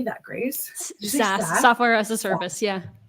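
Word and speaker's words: SaaS: s AAS how do you say that Grace SAS software as a service yeah SAS I knew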